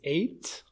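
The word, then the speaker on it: ate: Now, this one is eight. Like the letter eight. The same way you say the letter eight is how you pronounce this word eight. Okay? Just say the number eight.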